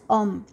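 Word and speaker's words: homme: And once again, an example of a letter begin, I'm sorry, example of a word beginning with the letter H mute. And as you can see, pronounced as om.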